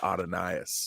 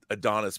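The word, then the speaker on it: Adonais: Adonis but it's not it's who Mourns for adonaius yeah I thought the exact same thing actually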